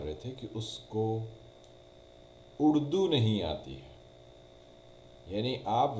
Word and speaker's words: اردو: نہیں پتا کہ URDU تو اس میں اردو نہیں ہوتا، یہ اردو ہوتا ہے۔ اب آپ کو کون